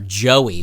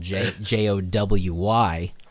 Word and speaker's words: Jowy: to bang or or joey which is your your best friend in sweden too but it's spelled j-o-w-y for some reason so at least it's not like okay that meant that that's like jowy but yeah that and